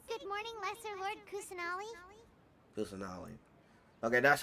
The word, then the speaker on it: Kusanali: Kusanali.